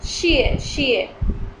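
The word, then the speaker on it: 谢谢: Next word is xie, xie. E has fourth tone. Xie, xie. So its pronunciation is a bit strict. Xie, xie.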